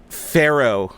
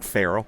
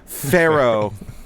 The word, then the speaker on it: pharaoh: Pharaoh, not Frell. Pharaoh.